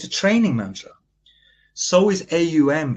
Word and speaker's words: AUM: Now, when I say, if you watch me for a second, I pronounce A and I close the mouth and it turns into M. Ow. It is not Om.